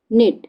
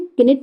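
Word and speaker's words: knit: निट, इसे हम पढ़ते हैं किनिट नहीं पढ़ते, क्या पढ़ते हैं? निट। तो के का इसमें जो साइलेंट जो वर्ड, जो के का उच्चारण है वो इसमें नहीं आ रहा है।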